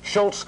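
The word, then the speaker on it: Szulc: and former New York Times Reporter Tad sulk pronounced Schultz will be airing their opposing views on Secretary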